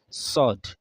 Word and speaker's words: ص: The pronunciation is sod. Is what? Sod. It is not sod. So the lips doesn't have anything when it comes to the pronunciation of this letter. It's just sod, not sod.